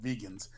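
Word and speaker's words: Vagan: to say they were it's spelled v-a-g-a-n but I think in the series they actually call them vegans because we used to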